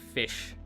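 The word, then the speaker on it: Ghoti: really make sense cuz you take the gh uh from rough uh o from women and uh like any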